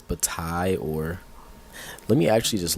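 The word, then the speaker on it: Bataille: my my believability by not being able to pronounce something I'm reading. That's just that's just crazy. Ah, so it is Batai.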